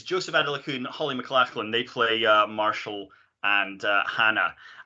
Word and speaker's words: McLachlan: How do you pronounce that name? Adelakun. And Holly, was it McLaughlin? McLachlan, yes, yeah.